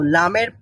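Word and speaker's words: لام: কিনারাটা রয়েছে তো আমরা জিহ্বার অগ্রভাগের কিনারা সামনের উপরের একপাশের দাঁতের গোড়ার সঙ্গে লাগিয়ে লাম উচ্চারণ করব লাম লাম বলেন লাম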